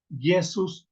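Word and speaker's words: Iesus: fonética hermanos bueno la la letra I en latín evolucionó hasta hacer la letra j en español por eso es que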